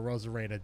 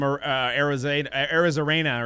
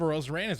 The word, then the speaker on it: Arozarena: I honestly, I didn't even know how to pronounce his name until the weekend. So most of baseball probably did it. I think I was calling him Arizarena or something like that.